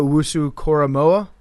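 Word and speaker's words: Owusu-Koramoah: Jeremiah Wu Koramoa. I I think that's somewhere close to how you pronounce his name.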